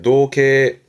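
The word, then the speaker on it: 憧憬: 발음은 노게.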